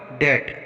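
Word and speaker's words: debt: For example डेट, यहाँ पर टी से पहले बी आया है तो यहाँ पर हम बी का उच्चारण नहीं करेंगे, इसको डेट पढ़ेंगे।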